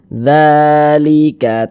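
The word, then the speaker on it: ذَٰلِكَ: Kemudian dza dibaca panjang.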